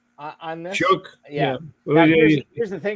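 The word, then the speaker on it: Shough: I I I've heard uh uh Shook on this. Shook. Here's the thing. Doesn't have a K anywhere in his name, so we get to that.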